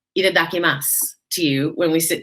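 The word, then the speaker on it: いただきます: lovely meal and i look forward to saying itadakimasu to you when we sit down there that is how you pronounce the word it's basically their bon appetit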